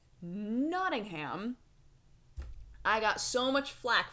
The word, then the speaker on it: Nottingham: pronounced it the H it's not that you don't pronounce the h it's that it's a soft H not a hard H and now I don't